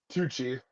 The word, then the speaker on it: Tucci: I always mispronounce his last name. It's Tucci.